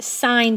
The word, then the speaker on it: sine: the three sides so s i n theta is actually pronounced sine theta we just abbreviate with those three letters so sine from theta